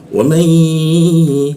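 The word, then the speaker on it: وَمَن: Nah, man ini nunnya berwarna pink ya. Artinya apa? Warna pink itu ditahan di tasdidnya, dua ketukan. Tasdidnya di mana? Di rupiah dia. Jadi cara membacanya adalah wamai, seperti itu ya. Nunnya tidak dibaca, langsung masuk ke ya, ditahan dua ketukan. Wamai.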